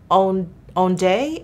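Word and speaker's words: Ondée: But this is number 114 Ondee, O-N-D-E-E, accent on the first E.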